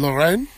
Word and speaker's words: Lorraine: We played in Normandy, and now we're here in Lorraine.